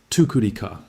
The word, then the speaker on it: Tukudika: It is pronounced Tukudika.